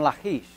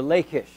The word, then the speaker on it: Lachish: And over there is where we find the release from Lachish, or Lachish, depending on how you pronounce it.